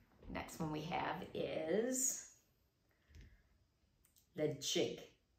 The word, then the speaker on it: Ledaig: kilhomen kill holmen next one we have is the chick the chick now we have kalila kalila and finally we